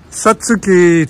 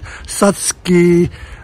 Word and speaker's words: Satsuki: is the Satsuki azalea Satsuki there are all sorts of ways of pronouncing it some people try and copy the Japanese by pronouncing it Satsuki it is spelled sa TSU ki you can pronounce it